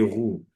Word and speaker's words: roux: Example, ils sont grands et roux. The X is not pronounced, the S is not pronounced.